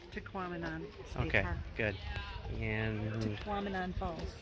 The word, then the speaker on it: Tahquamenon: Yeah, I can't pronounce it. It's Tequamanon.